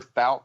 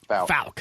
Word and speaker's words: Fouke: Just remember Fouke, Arkansas, not Fouke. Fouke.